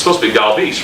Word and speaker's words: Galvis: He goes, "I want it to be pronounced Galvis." And I looked at him again.